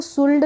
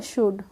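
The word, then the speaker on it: should: डी आ गया ना तो डी से पहले यहां पे एल भी आ गया है तो हम इसको शुल्ड नहीं पढ़ेंगे क्या पढ़ेंगे शुड ऐसे ही सीओ य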